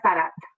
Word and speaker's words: Sadat: It is pronounced, give me 1 second. Let me check it right. Hold on. It is Anwar Sadat. Anwar Sadat, yeah.